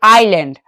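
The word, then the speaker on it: island: ठीक है यहां पे आई एस एल ए एन डी देखिए यहां पे एस लिखा हुआ है लेकिन बोलेंगे नहीं इसे क्या पढ़ेंगे आइलैंड आइलैंड ठीक है जैसे एल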